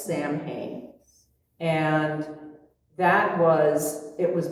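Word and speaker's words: Samhain: And it's spelled in a very weird way. It's s a m h a i n like it's Sam Hayne.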